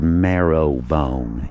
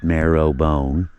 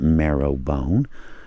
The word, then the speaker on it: Marrowbone: little community called, well, it's spelled Marrowbone, M-A-R, you know, like the bone marrow. But if you call it Marrowbone to anyone that lives within 75 miles from here, they'll know you're not from here, because we don't